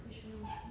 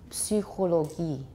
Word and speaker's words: Psychologie: So in German, the word for psychology, anybody know? Psychologie. Not psych, it's Psychologie. Psy. 因为 Y in German is Ü. Psychologie. Psychologie. They pronounce it. So in German, you will actually pronounce it.